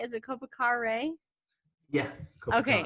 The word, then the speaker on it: Kopikare: Is it Kopikare? Yeah, Okay, Kopikare. Kopikare. Oh, see, I knew I would overpronounce the end of it.